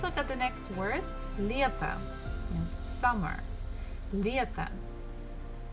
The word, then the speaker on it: лето: Буква E is stressed, so we have to pronounce it as E, as it is. But next one, the last syllable, we have to, T-O, to. And here O is not stressed, so we pronounce it actually as A. So it will be like this. Лето, лето, summer.